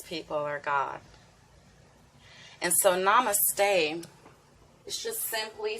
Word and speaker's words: namaste: Namaste. Namaste. I love using that as a greeting. Namaste. You may have seen that word before. It looks like namaste. If you look at the correct pronunciation, namaste.